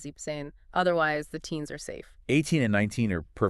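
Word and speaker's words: siebzehn: If it feels like you're stumbling over extra consonants, you probably need to drop something. So 16 is xane and 17 is zipane.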